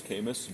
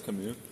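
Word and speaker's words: Camus: It's spelled C A M U S. So in English it's CS, but he's French, so I believe it's Kamu.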